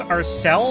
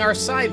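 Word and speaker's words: Alseil: crisis in liberals pinterest it's pronounced our cell I've been saying our side this whole time yeah I remember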